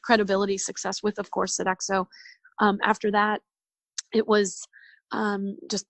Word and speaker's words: Sodexo: to satisfy those two as well as your Sodexo Sodexo contract am I saying it right Sodexo yes attack so yes yes it's a little